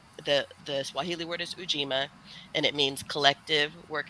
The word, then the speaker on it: Ujima: I taught myself is it rhymes with three so it's ujima so because the fourth